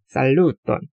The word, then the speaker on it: Saluton: Saluton.